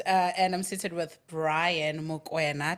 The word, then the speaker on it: Mokoena: And today I'm seated with a guest, and I'm seated with Brian Mokoena. Did I say it right? Yes, not Mukuna. Everyone says Mukuna.